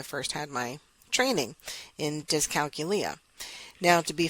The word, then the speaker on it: dyscalculia: the way I first had my training in dyscalculia. Now, to be phonetically proper, the correct pronunciation is dyscalculia, and we did talk about that in the very first podcast.